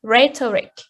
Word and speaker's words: rhetoric: have two exceptions yes we have two exceptions uh politics and written race uh their endings of of the words uh is it but the stress falls on the first syllable politic and rhetoric the last point about